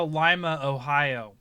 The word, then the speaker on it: Lima: there's a Lima, Ohio, even though in Peru it's Lima. But people come here and they think like, oh, Lima, Ohio, that makes sense. No, it's Lima, folks.